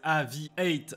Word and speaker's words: AVI-8: Aviate, qui se prononce à l'anglaise Aviate avec un 8, renvoie, comme son nom le laisse deviner, à l'aviation.